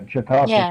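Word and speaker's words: Chautauqua: how to pronounce it chiaka is that New York yeah chiaka County okay that's how it's said I believe you do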